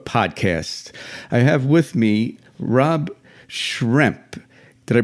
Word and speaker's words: Rob Schremp: I have with me Rob Schremp. Did I pronounce that correct, Rob?